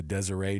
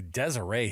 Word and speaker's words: Deseret: Jay Hill from the Deseret News. I was like, you've arrived when the T is silent on the Deseret News.